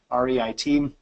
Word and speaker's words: REIT: the term I'll use by the way you pronounce that Reit Reit so the publicly traded re would trade just